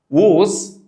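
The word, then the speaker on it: was: هي اسمها ووز ولا واز؟ ووز بتنطق بريتش، اما امريكان بيقولوها واز، اللي انت عايزه عادي.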